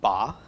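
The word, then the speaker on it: בָּא: a comet's under the bait so this is pronounced bah and bah is in the present tense so you could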